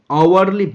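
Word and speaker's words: hourly: দেখো এইচ ও ইউ আর এল ওয়াই আওয়ারলি, এটা উচ্চারণ হচ্ছে আওয়ারলি। আমরা জানি এইচ এর উচ্চারণ হ হলে এ বসে, হ না হলে অ্যান বসে, এখানে উচ্চারণটা আওয়ারলি, তাই অ্যান বসছে।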